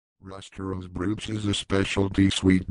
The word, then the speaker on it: Ruster: at the name itself Ruster is pronounced rooster like the bird and it simply means